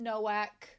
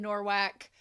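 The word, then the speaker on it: Nowak: I know that I meant Noak. I said Norwac, I think because it sounds like narwhals.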